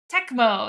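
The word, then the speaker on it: Tecmo: 1991 NES title uh Tempco is it temo temco how do you say it gar techmo techmo that's the word techmo Super Bowl which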